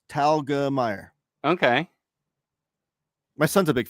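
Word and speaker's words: Telgemeier: to say your name so it's pronounced just like it looks talga Meer okay my son's a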